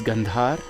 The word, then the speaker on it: Gandhar: uh the seven Saras In hindustani classical music is pronounced like this sa is shaj re is rishab G is gandhar ma is madham PA is Pancham da is D ni is nishad so is are the